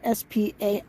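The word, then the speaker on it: Spainhour: john our spain hour spelled s-p-a-i-n-h-o-u-r so i'm guessing his name is pronounced spain hour all right let's go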